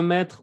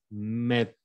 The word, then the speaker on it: mettre: Tu peux mettre mon ordinateur sur la table, s'il te plaît. Ok. Ah, y ahora que lo pienso, en este verbo el infinitivo sí se pronuncia la R, ¿eh? Mettre.